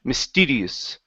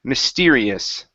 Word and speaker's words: mysterious: is mysterious now here you said Miss tedious ok so watch that are instead of miss DD its mystery' mysterious mysterious good to communicate